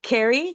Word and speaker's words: Kerie: Kerrie, Kerrie Logan, is that Did I say it correctly?